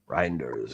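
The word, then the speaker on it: Reijnders: Reinders, is that how you said pronounce his name? Reinders, yeah.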